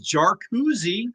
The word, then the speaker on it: Jarkesy: pronunciation and and and it started off good you know it was jouzi that's what chief justice Robert said so we assumed